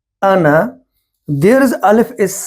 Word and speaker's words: أنا: In this word ana, there is alif is silent.